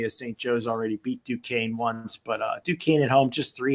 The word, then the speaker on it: Duquesne: I call them boys Duckanese. That's how it looks like it should be pronounced. Duquesne.